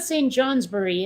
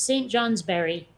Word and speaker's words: St. Johnsbury: Like in Vermont, people will pronounce anything that ends in B-U-R-Y with berry. You know, it's not St. Johnsbury; it's St. Johnsbury.